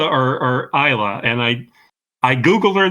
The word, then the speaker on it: Isla: week if it was Elsa or or Isa and I I Googled her this morning and it it is ISA Fisher I okay so the S is silent oh boy all right